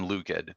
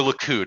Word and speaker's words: Likud: thought it was yeah or likud excuse me um i i just pronounced it wrong but yeah basically the